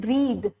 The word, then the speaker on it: breathe: Then the next one, breath and breathe. Breath and breathe आप pronunciation सुनिए, breath, breathe.